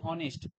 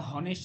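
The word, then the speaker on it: honest: হয় অ এর মত অ যেমন উদাহরণ কি অনেস্ট এটা হনেস্ট না হয়ে কি হইছে অনেস্ট তাইলে এইচ এর উচ্চারণটা যখন সাইলেন্ট আসে তখন এখানে কি হবে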